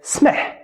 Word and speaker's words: سمح: So try to say it without any vowel in between.